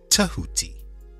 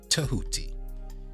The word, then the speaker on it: Tehuti: some people spell at teh you TI and pronounce it Tehuti Tehuti and this energy being this life force played